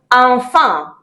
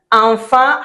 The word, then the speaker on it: enfant: Enfant. Yes, enfant has that again. But you know, in French, most of the time you don't pronounce the last sound, so the t, you don't get it.